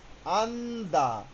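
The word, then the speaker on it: 앉다: লিখছে আন জিয়ত দা এখানে জিও হবে না প্রথমটা আমরা ধরবো তাহলে কি হবে? আন্দা দেখেন এইযে ব্রকেটে লেখা আছে কি? আন্দা আন্দা মানে বসা। আপনি বসুন। আঞ্জুস আঞ্জায় যেটাই হোক আন্দা।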